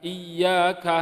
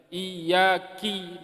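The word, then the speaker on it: إِيَّاكَ: Misal kita membacanya bukan iyyaka na'budu, bukan iyyaka na'budu, tetapi kita bacanya iyyaki na'budu. Iyyaka diganti iyyaki.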